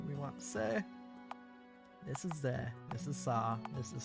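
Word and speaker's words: ゼ: ぜ This is ze. Pronounce it as ze, like in the word zen.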